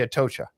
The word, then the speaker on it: Atocha: the Ayatosha. How do you say it? The Atocha.